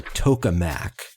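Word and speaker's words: tokamak: magnetic confinement is a vacuum chamber called a toac that's spelled t o k a m a k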